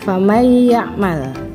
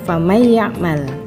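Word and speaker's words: فَمَن يَعْمَلْ: Oke, berikut contoh dari biguna ya, famay ya'mal. Jadi membacanya famay ya'mal.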